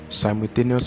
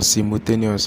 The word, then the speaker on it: simultaneous: simultaneous equation simultaneous or simultaneous as you may call it all right it's just very good you get it clear the pronunciation simultaneous is American pronunciation and then simultaneous is the British pronunciation so either way I'm